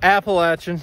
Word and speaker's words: Appalachian: I need to be on the Appalachian Trail Appalachian okay I said it right that time there